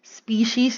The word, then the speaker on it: species: i want to emphasize species is always pronounced as s with letter s always in its plural form species even if you're just talking to one one kind okay so by